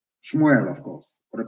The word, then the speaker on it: Shmuel: dreaming let me tell you what samuel said shmuel of course for the pronunciation as your sword has killed the sons